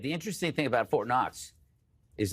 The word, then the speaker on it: Knox: The interesting thing about Fort Knox is that the K is silent.